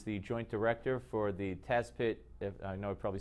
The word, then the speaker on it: Tazpit: The correct pronunciation of your news agency? Tazpit. Tazpit.